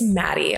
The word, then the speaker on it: Matti: It's Matti, honestly. Okay. I have a hard time saying it with the T. It's spelled Matti, and people are like, is it Matti? I'm like, we're not British. We're fine. It's just Matti.